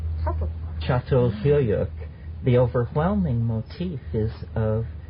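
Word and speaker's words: Çatalhöyük: well yeah yes actually it's still c-a-t-a-l but it's called subtle chateau the overwhelming motif is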